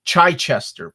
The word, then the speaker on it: Chichester: And pronounced Chichester, Phil. That's how you say it.